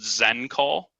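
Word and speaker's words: XenCall: system that i use is called zen call and that's spelled x e n call zen call so the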